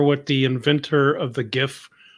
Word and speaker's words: GIF: the acronym like what it's a hard G stands for graphic right right right right